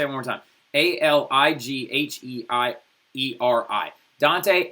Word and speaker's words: Alighieri: Now, his last name is spelled Alighhieri, all right? I'm going to say it one more time. Alighhieri. Dante Alighieri, right?